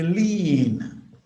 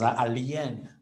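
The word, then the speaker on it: lien: able to really define a lean. You get people pronouncing it as alen.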